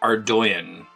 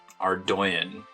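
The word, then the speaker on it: Ardougne: to pronounce or Dona Google says it's pronounced our doyon are doin I need to come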